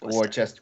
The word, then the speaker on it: Worcester: Looks like Worcester, but it's Worcester.